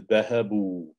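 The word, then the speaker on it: ذهبوا: So notice there's an aleph at the end of the word which is not pronounced. There's an aleph that basically has a sukoon on it and you do not pronounce it.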